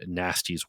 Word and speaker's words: Gnasty: junkyard, which he renamed Nasty's World. And Nasty is spelled Gnasty.